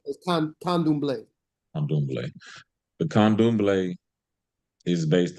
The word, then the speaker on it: Candomblé: pronounce it, Candomblé.